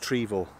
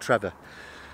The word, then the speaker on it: Trevor: well it has actually but it is actually pronounced trevor not trevor so trevor basin i've got me mr bombastic